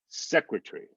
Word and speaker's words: secretary: vowels but you know the stress is on the first symbol but because we're not unstressing it's going to sound like secretary almost like secretary t-r-e-e like it's three syllables instead of four that's how much that schwa drops it so it's really going